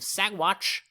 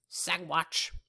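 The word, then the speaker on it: Saguache: county the county of sagwatch sagwatch briefly i just want to say this so the g is silent in sidewatch and uh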